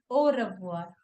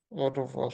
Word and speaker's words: au revoir: And whenever we have the combination of A and U letter together in French, it makes O sound.